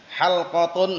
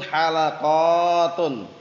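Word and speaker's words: حلقة: Halqatun, halaqatun. Ingat-ingat ya, halqatun yang benar.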